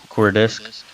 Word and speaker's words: Coordsic: the founder of Cortex core discs did I pronounce that right yeah core disc okay and it is a startup developing a